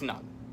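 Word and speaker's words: Ngan: I believe it's Nung, if I remember correctly. Yeah, it's Nung. Natasha Nung.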